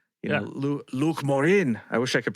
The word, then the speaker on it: Luc Morin: You got to get a little gurglier on it though, like Luc Morin. It's like gargle some water or something.